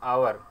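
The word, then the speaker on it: hour: 13 एन आवर is enough, N का प्रयोग होगा। फ्रेंड्स यहाँ पे एच से शुरू है आवर, लेकिन उच्चारण आ से होता है इसलिए एन का प्रयोग किया गया है।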